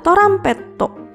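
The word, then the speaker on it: トランペット: Berikutnya ada gambar trompet atau dalam bahasa Jepang adalah torampetto. Gambar torampetto mengingatkan kita pada huruf to.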